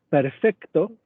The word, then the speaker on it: perfecto: O perfecto, que es una C al final de sílaba, se pronunciaría perfecto.